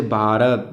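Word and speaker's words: Bharat: दूसरा रू इसमें य जब बी के बाद एच आता है तब बी एच का उच्चारण होता है जैसे अपने जैसे किसी नाम है जैसे भारत बी एच ए आर ए टी भारत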